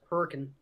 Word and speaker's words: Hurricane: Down the road for me, the next town over is spelled like hurricane, but it's pronounced hurricane.